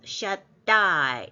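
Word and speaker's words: שַׁדַּי: 이 쉰의 엘은 하나님인데 쉰 다음 달렛에 점이 하나 찍혀서 이거는 달렛이 두 개라는 뜻이에요. 그래서 엘 발음을 엘 샷 달렛을 하나 붙이면 샷 이래 되죠. 샷다이 이렇게 돼요.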